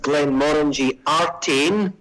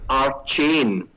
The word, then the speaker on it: Glenmorangie Artein: say the name okay the name is pronounced glenn moringertine although there are some people who suggest it might be pronounced art chain but for the time being arte a-r-t-e-i-n and it's part of